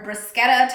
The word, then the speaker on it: bruschetta: So I got this bruschetta topping as well, or bruschetta topping. I think you're supposed to pronounce the k in there.